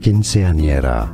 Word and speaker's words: quinceañera: Quinceañera. Quinceañera. I'm trying to. In Spain, the C is pronounced like TH.